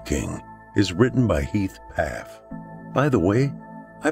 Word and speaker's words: Pfaff: is written by heath paff by the way i pronounced heath's last name correctly half p f a f f the first f is silent not the b i